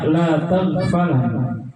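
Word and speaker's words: لا تغفل: Nunnya di sini bin nunil khafifah, dengan nun ringan, bukan nun thaqilah. Makanya bacanya la taghfal.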